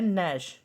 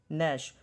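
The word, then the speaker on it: gnash: जैसे ये वर्ड है नैश, नैश, तो जी साइलेंट है यहाँ पे, तो हमने यहाँ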